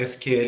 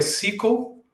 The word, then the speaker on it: SQL: Apenas por curiosidade, existem duas formas de pronunciar SQL em inglês. Ou é SQL ou SQL.